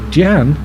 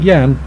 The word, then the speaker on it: Jan: guy's blisteringly fast uh pronounced like jan jan not yan jan okay um mack is